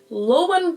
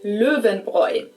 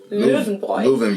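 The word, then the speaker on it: Löwenbräu: Not necessarily my first choice, but they usually try and say something like loven along those lines, which might be kind of hard to understand for German native speakers, especially if it's mentioned out of context. Correct. German pronunciation is louen boy.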